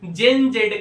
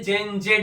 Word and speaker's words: Gen Z: तो American English में जेन जेड का प्रोनाउंसिएशन जेन जी होता है और ब्रिटिश इंग्लिश में जेन जेड होता है।